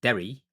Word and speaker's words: Derry: Or there's a place in Ireland called Derry because you're pronouncing the double R. That's the difference. It's not dairy and dairy. It's Derry.